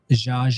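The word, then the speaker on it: Zsa: And how's it pronounced? Za. Okay. Okay. Za.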